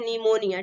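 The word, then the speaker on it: pneumonia: की जो पीर राहत है हमेशा कहता है साइलेंट होता है इसको हम बोलते हैं निमोनिया ठीक नेक्स्ट एग्जाम पहले जब भी पी होता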